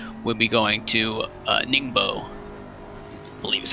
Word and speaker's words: Ningbo: be the fourth we'll be going to uh ningbo i believe is how you pronounce that track but almost almost halfway through